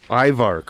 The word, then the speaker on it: IVARC: IVARC.